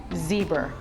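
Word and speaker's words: Zbur: of advocacy for LGBTQ civil rights welcome Rick zebra and and Rick I have to ask you am i pronouncing that correctly because it's been driving me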